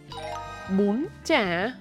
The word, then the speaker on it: Bún chả: Hôm nay bạn đã học cách sử dụng môi tròn để phát âm nguyên âm "u". Hãy uốn lưỡi để phát âm phụ âm "ch" . Áp dụng thanh điệu cao, căng thẳng lên âm "bún" và thanh điệu dấu hỏi "hỏi" lên âm "chả". Hãy nhớ luyện tập chậm